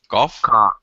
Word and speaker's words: cough: 5th one is off. Off. Cough.